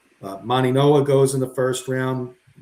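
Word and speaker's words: Mauigoa: We saw Maniagua Maninoa I should say. I always say say pronounce it wrong. The G is actually an N in Samoan. Maninoa goes in the first round.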